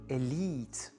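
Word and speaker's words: elite: Mais quand on emprunte un mot français en anglais, on va vraiment accentuer sur la dernière syllabe. Par exemple, machine ou cuisine, élite.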